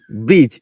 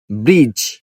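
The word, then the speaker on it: bridge: আর আই ডি জি ব্রিজ এখানে কিন্তু ডি আছে ডি এর পরে জি তাহলে আমাদের স্ট্রাকচার অনুযায়ী ডি এর পরে যদি জি অথবা যেই থাকে তাহলে ডি উচ্চারণ সাইলেন্ট থাকবে যেমন ব্রিজ ব্রিজ ব্রিজ এটাই হল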